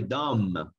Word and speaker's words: dumb: Y una persona tonta, o cuando le queremos decir a una persona, eres muy tonto, pues le decimos, you're very dumb.